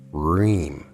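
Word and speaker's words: hrim: interest to us is ream spelled h-r-i-m but pronounced r-h-e-e-m again the proper intonation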